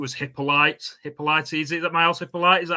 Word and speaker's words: Hippolyte: Is that Miles Hippolyte? Is that how you pronounce his name? Yeah, Hippolyte.